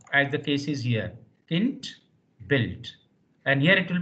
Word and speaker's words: Kind: n d in fact D at the end is pronounced like T so here k i n d should be pronounced like Kint Kint Kint k i n d